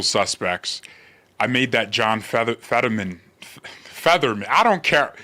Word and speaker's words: Fetterman: And now everyone's like, George, it's Fetterman.